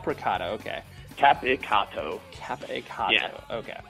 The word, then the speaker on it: Capicotto: hope you enjoy thanks actually how do you pronounce your last name I'm sorry oh caado caado okay capato capato okay it's tough it's super Italian lot